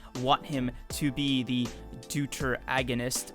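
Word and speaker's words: deuteragonist: Like, I obviously want him to be the deuter agonist of the series, which I just recently found out is how you say that word.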